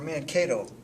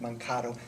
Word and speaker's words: Mankato: of looks like this and this is where man Cato is that nut Mankato never heard it butchered that way but first time this is